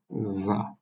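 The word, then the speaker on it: ز: জা জিহ্বাটা সামনের দিকের দাঁতে স্পর্শ করবে, জা। জা বিশেষ করে আমরা এটাকে একটু ঝিঝি পোকার যেমন শব্দ হয় এরকম শব্দ করে উচ্চারণ করতে হয়, জা।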